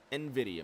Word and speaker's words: NVIDIA: Brink in that 20 Nvidia machine I was screwed up with that and I did look this up because I was pronouncing it wrong for the longest time it is NVIDIA he sits in second